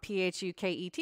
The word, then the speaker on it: Phuket: that new job too apologies I've been pronouncing the word wrong p-h-u-k-e-t is Phuket sorry guys so on